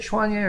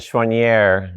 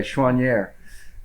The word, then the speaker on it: Choiniere: gee and schwannee do you see that chanye or is French yeah pronunciation and schwannier is what it's evolved to on this side the Border yeah I figured it